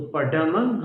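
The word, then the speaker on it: पढमं: तो पढ़म हवई मंगलम। पढ़, ढ, ढक्कन वाला ढ बोलना है आपको, दृढ़ वाला ढ नहीं बोलना है, दोनों में अंतर है।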